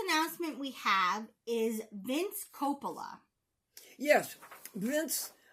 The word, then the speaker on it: Coppola: The first announcement we have is Vince Coppola. Yes, Vince. I think I knew somebody by that name, and they pronounce it Coppola.